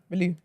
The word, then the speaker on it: Bellew: How'd you pronounce it? Bellew.